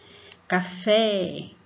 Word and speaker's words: café: Café, café. Então, no fé, você vai colocar mais força para falar o fé.